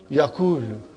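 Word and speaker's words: يقول: If I put a sukoon on vav and dhamma on kaf, how will you pronounce it now? Yakulu.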